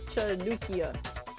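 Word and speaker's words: חנוכייה: pronounced Chanukia.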